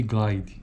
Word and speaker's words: glide: a silábica ou de Glide também chama-se faremos uso do termoglaide em detrimento destes outros termos pronuncia-se Glide apresentamos a seguir um